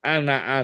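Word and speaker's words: أنا: bacanya wala Ana abidun loh kok Ananya ada alifnya kok bacanya Kak Nah Nulisnya pakai Ana itu ilmu Rasul utmani bacaannya Ana abitun enggak dibaca panjang itu ilmu qiroat Oh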